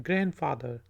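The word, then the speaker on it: grandfather: इसमें डी जो है वो साइलेंट है, ठीक है, ग्रैंड फादर।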